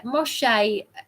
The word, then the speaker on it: Moshe: Um yeah, Moshe.